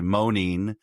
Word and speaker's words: Moneen: Uh and then we decided to go with the French girls name Manin, which no one can really pronounce, so we just say Monine.